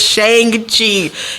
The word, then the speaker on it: Shang-Chi: in the 616 comic book universe people have pronounced it as shang chi and that's what jim starlin said just be